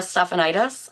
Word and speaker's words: Stephanitis: Um, I'm Stephanitis and yes, my last name is pronounced like a disease. It's an easy way to remember how to say it.